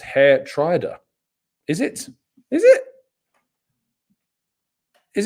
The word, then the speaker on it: Geertruida: the door Rich says Tom gestu is pronounced hair Trier is it is it